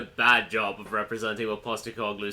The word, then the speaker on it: Postecoglou: How do you pronounce his name again, Tommy? Postecoglou.